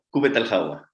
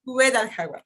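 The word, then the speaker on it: Qubbet el-Hawa: Jaén y es director del proyecto, ¿cómo se pronuncia? Cúbet al-Hawa. Cúbet al-Hawa, perdón.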